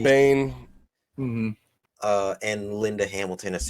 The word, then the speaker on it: Biehn: Bain.